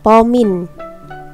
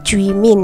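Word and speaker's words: 煲麵: Kalau masak mie misal mie instan itu pomin pengucapannya pomin bukan juimin ya.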